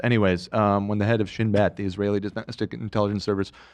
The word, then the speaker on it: Shin Bet: So, and Ela, you can correct me if I'm wrong, but this is pronounced Shin Bet.